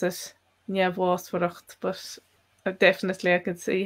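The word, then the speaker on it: neamhbhásmhaireacht: pronounce that myself as njavwasvaracht, but definitely you could pronounce it other ways. So it would depend a lot on dialect. So I'd have the first MH as a V, and then the BH.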